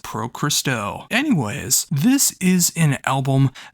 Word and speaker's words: Pro Cristo: with Pro Cristo and if you don't know how to pronounce that when you look at the name it is the very first syllables you hear on the album it says Pro Cristo anyways this is an